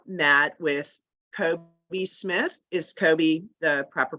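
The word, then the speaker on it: Coby: Now, when you met with Kobe Smith, is Kobe the proper pronunciation? Yes. With Kobe Smith, who was a co-founder of the Invaders,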